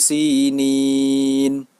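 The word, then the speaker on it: سينين: Cara membacanya yaitu dibaca panjang 4 sampai 5 harokat. Watturi sinin.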